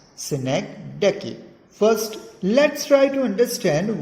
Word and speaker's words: synecdoche: Yes, it is how it is pronounced, synecdoche.